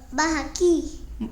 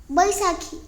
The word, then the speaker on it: Baisakhi: बाहाकी. बाहाकी नाही, BAISA. SA ला काय असतंय? सा. हां. आणि KHI? बैसाखी.